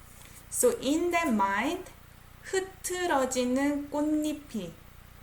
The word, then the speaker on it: 꽃잎: So in that mind, 흐트러지는 꽃잎이. I pronounce it as 꽃잎. I don't say 꽃잎. 꽃잎. Almost like N sound.